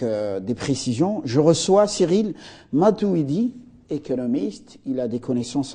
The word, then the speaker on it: Matuwidi: Matouidi, j'ai bien prononcé?